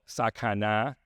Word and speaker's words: Sakana: from a company called Sakana that that's the correct pronunciation in Japanese and this is it's